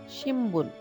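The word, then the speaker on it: 新聞: শিনবুন, news paper. এখানে একটা ছোট্ট নোটস আছে, যেমন এন আর বি যদি পাশাপাশি থাকে তখন এন এর উচ্চারণটা অনেক সময় এম এর মতো হতে পারে, তখন আমরা বলবো শিম্বুন, নিউজ পেপার।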